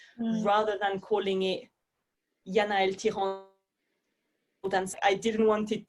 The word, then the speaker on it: Thiran: So don't worry, I don't usually pronounce it like that. In the UK, I kind of go Thiran, which feels easier for people to pronounce.